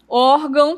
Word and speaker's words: órgão: Órgão termina com ão. Então, a sílaba tônica aqui vai ser a a segunda, tá?